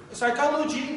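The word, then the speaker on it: psychology: خب سایکالوجی دوستان سایکالوجی روانشناسی هست که گفتیم پی تلفظ نمیشه و سایکالوجیست یعنی روانشناس، شخص روانشناس رو میگیم سایکالوجیست.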